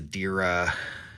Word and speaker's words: Derya: It's obviously, it's not a Glock, it's Rock Island Armory DY9, and it is, the official firearm is a DERA, so it's spelled DERYA.